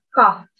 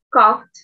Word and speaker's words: калхт: Но есть такие звуки, где "х" как призвук. Калхт (рыбы), кальхть (ивы), мархт (кучи), марьхть